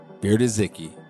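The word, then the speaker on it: Biedrzycki: It's spelled B-I-E-D-R-Z-Y-C-K-I. Bierdezicki.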